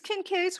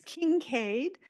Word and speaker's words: Kincaid: And so these Kincaids were from Mississippi. And I've heard this word pronounced a whole lot of different ways. And sometimes it's Kincaid, and sometimes it's Kincaid.